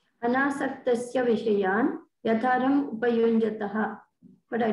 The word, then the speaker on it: Anasaktasya: Is that where Anasaktasya Vishayan Yatharam Upayunjataha Kam Guru Maharaj?